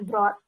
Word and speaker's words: brought: Oke, terus yang 15, ini kalau ada GHT, GH-nya kayak nggak dianggap ya, langsung T aja. Jadi, jawabnya, bacanya brought, gitu. Bukan, nggak ada suara G-nya, atau hanya nggak langsung T aja, brought, gitu ya.